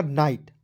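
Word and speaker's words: night: पे एन आईजीएसटी तो एन का ना होता है आईजीएसटी का उच्चारण आइट के रूप में करेंगे तो क्या हो जाएगा नाइट और नाइट मींस क्या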